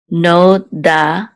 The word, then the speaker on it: Nodati: It says Lo Nodati Lahem. So actually the accent is on da, so it's Nodati. So Lo Nodati Lahem.